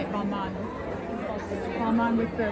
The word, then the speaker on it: Balmain: Balmain.